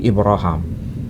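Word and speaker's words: إبراهم: Kalau di sini terbaca bukan Ibrahim tapi Ibraham.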